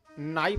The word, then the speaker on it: knife: अब मास्टर साहब टीचर पढ़ा देते हैं KNIFE और बाद में क्या कहते हैं कि बच्चा ऐसा है कि इसमें के साइलेंट हो चुका है, केवल नाइफ बोलो।